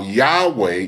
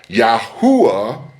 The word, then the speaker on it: Yahweh: seeking to understand how Yahweh is pronounced. Furthermore, the pronunciation Yahwh or Yahwa does not carry any meaning in Hebrew.